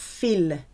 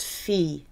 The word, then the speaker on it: fille: I double L is pronounced E, fille. It's not fille, it's pronounced fille.